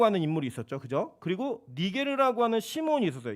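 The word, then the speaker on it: Niger: 그리고 니게르라고 하는 시몬이 있었어요. 이 니게르는 여러분 니그로 아시죠? 이게 라틴어식 발음입니다.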